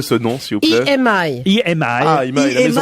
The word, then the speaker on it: EMI: il faudra répondre à cette question puisque aujourd'hui Imaï me sort 48 disques. On peut reprononcer ce nom, s'il vous plaît. EMI.